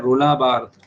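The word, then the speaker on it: Roland Barthes: Which literary critic is known for द death of द author, बहुत important, रोला बार्थ, इनका pronunciation क्या है, रोला बार्थ।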